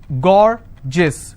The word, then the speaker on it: gorgeous: as well for example i have a word gorgeous so gor jis two-syllable i will stress on gore s-i-o-n tension pension so